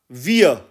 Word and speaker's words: wir: German में translate करेंगे तो वो बन जाएगा वियर, और इसके स्पेलिंग अंग्रेज़ी में बनेंगे WIR के, और जब